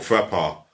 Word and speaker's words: Frappart: She goes by the name of Stephanie Frappart, or Frappart, as it's pronounced in French, because she became the